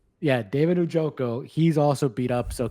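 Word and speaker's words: Njoku: Uh, David, do you know I can't pronounce his name for me, Adam? Uju. Yeah, David Ojoko.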